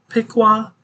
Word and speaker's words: Piqua: uh fixing to move into uh let me pronounce this right Piqua Piqua in uh in Ohio and rosville so you